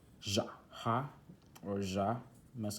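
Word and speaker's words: Я: This one right here now is pronounced Ja, and it is used in a lot of words with feminine.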